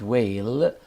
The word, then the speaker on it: whale: for example here in the word whale here we have two silent letters the h letter and the e letter in the second example